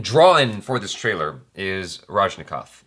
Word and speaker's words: Rajinikanth: for this trailer is Rajinikanth. Did I say his name correctly? Rajinikanth. Yes. Rajinikanth. There's an N in there I was missing.